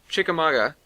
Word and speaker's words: Chickamauga: It was from Dean, and he said, did you go to the town of Oh god, he gave me a phonetic pronunciation. Chickamauga.